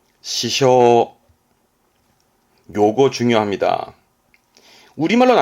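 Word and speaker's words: 支障: 발음은 시쇼, 시쇼.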